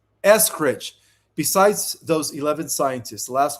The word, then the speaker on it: Eskridge: How do you pronounce Amy's last name? Eskridge.